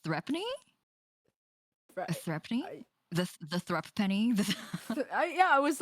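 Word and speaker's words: threepence: that you're just desensitized now it's threepne it's pronounced threatening the the thrupp penny yeah i was like throw penny pray forgive the discourtesy the irrelevance of this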